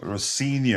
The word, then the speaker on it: Rosinha: Rosin, you got to use Z. Is it Z, Rosin, not S? Rosinha. Z. Well, Z. I say Yeah, Z. that's Rosinha. Yeah, Rosinia. Yeah.